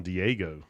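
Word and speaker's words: Diageo: one this is from diego how's it going is that how you say it yeah they're they're eugeo they are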